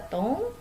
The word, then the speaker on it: ton: Di sini ada tong. Nah, yang tong ini dibacanya tong.